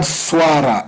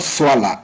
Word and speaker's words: swara: Then here, there's word swara. It's not swala, it's swara. Wow. It's not L-A. It's a swara with an R, which is an impala.